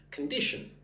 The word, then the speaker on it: condition: So based on your skin condition, condition. Stress goes on the second syllable, 1, 2, dish, condition.